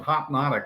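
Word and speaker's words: Hpnotiq: sued us and because they make a thing called hypnotique they pronounce it hopnotic but it's HP n t oq or something and it's in a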